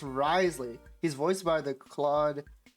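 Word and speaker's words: Wriothesley: characters in the story and his name is pronounced risely he's voiced by the Claud voice actor Jo Z oh oh okay Risley darn the French anyways don't don't worry we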